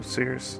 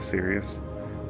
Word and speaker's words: Sirius: there so uh yeah just so you know serus Sirus I guess this how you pronounce it I always said Sirus but I believe it is Sirius um is the nearest